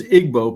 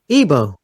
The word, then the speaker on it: Igbo: Boston Massachusetts um the the name you pronounce as Igbo because that's how it looks but the G is sort of Silent oh okay so it's evil Evo okay and the emphasis is on the o Boe Evo um yes um